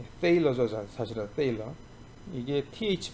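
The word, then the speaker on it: Thaler: 이게 세도 아니고 때도 아니고 이게 사실은 때입니다.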